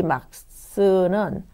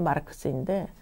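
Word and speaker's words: Max: 또 많은 책에 이 막스는 마르크스라고도 나와 있어요. 마르크스. 미국식으로 읽는, 영어식으로 읽는 것이 마르크스인데 원래 독일식 발음은 이제 막스이다.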